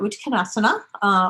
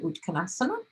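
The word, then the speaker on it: Utkatasana: How to get into chair, Uttanasana, or for those who don't pronounce the A at the end, Uttanasana, right?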